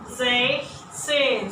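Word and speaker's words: sechzehn: So the Z's, we lose the S. So we will have Zech. Zech. You know, after the E, you have a CH. It's from the mouth. Zech. And then Zehn. Zech, Zehn. So be careful here, there is no S.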